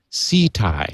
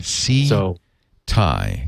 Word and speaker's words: Ceti: where they're coming from but it's tau c thai s is you know phonetically s e e hyphen t i e c thai c thai just remember when you see thai food you will love it or you will eat it how interesting yeah as